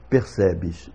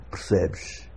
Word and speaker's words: percebes: Em Portugal é corrente a pronúncia percebes, em que nós temos uma primeira sílaba com a vogal quase totalmente desaparecida, e o mesmo se dá na última sílaba. Na primeira sílaba nós temos esse R que absorve uma parte da vogal, é o que em